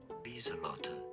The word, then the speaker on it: Lieselotte: Lieselotte is how it's said.